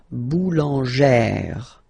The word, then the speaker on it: boulangère: Remember, when you've got this E plus this accent grave, you pronounce it like E, really open E sound. Okay, so boulanger, boulanger, and then feminine form, boulangère, boulangère. Same thing, don't insist too much on the final E, boulangère.